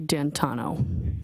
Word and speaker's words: D'Antuono: And when you went outside, you learned that he had come and his friend, is it Ricky D'Antuono? How do you pronounce the name? It's Ricky D'Antano.